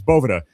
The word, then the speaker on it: Boveda: It's it's Bovetta. Now, um when we named the brand, we changed names, but when we changed the name, it was Bovetta was one of the the the one of the top few options, right, that Sean and Tim, the two owners, decided on. And they were like, "We really like Bova. That sounds really cool. But at the time, I believe they were calling it Bova.